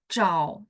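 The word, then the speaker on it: zhao: Haa O begitu juga Chau Chau tah lemah teman-teman berasa enggak Oh dia bacanya kan z h a u bacanya tapi tulisannya z h a o ya cau misalnya mencari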